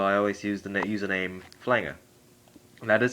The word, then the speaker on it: Flanger: like that, so I always use the username Flanger. That is how it's pronounced.